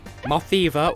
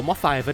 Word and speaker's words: Mothiva: able to infer beat Mothiva or Mothiva, depending on if you pronounce it as Moth Diva or Lady Godiva Moth.